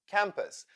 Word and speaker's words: campus: u u u album campus the second syllable in this word is also unstressed therefore u sounds like U uu U uh campus why as sound analysis